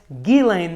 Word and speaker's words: Ghislaine: surrounding circles which is gelane maxwell for jeffrey epstein yes geelane maxwell as i was so graciously corrected on the first video and i will do my best to continue pronouncing it that way the five elements are